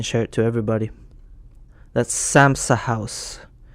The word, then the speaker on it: Samsa House: so I can share it to everybody that's samsa house pronounce Sam's house s a m s a h o u